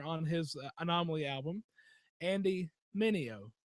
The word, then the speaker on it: Mineo: He had another fellow rapper on his Anomaly album, Andy Mineo. Say it with me. Sal Mineo. No, Mineo. Yeah. Say it with me. Okay. Mineo.